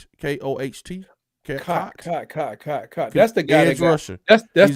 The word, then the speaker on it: Koht: Is that how you spell it? Koht? K-O-H-T?